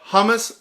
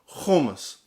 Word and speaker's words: hummus: Now, some of you will call it hummus, but it's pronounced hummus.